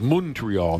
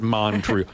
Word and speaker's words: Montreal: uh he's always said the proper pronunciation is monreal not Montreal it's MRE never been there uh